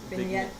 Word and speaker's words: vignette: A is a Maya Vignette. Vignette. Yeah, the G is silent.